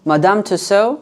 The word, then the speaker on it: Madame Tussauds: Branch we're going to how do you even pronounce it Madame tuso to look at some wax figures and then we have a theater stranger thanks play in the evening at 700 p.m.